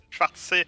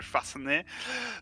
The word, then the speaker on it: Schwarzsee: Il m'a corrigé sur la prononciation Schwarzsee et pas le Schwarzenegger.